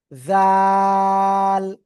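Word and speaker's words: ذال: সবাই খেয়াল করেন, এই যে জিহ্বার আগায় সামনের উপরে দুই দাঁতের আগায় লাগবেন, লাগিয়ে নরম করে তিন আলিফ টানে উচ্চারণ করব। জাযাকাল্লাহ। জাল জাল, ঠিক আছে, সিম্পল উচ্চারণ হবে, জাল।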